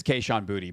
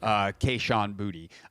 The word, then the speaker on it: Kayshon Boutte: It is Kayshon Boutte, by the way, is the pronunciation. So Kayshon Boutte.